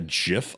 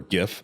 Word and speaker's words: GIF: waving, because it was just a GIF or GIF, as some people mispronounce it.